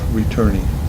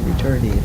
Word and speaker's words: Returney: How do you spell Returney? Returne. Returney. And as far as I know, that's the way they pronounce it. That's what, Returney, not return.